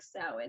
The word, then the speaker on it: Samhain: this is it's called it's spelled way differently than it's pronounced it's pronounced like samhain this is the ancient celtic festival of samhain where people would like